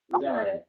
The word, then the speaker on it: Bedard: Do you pronounce Bedard or better? Bedard.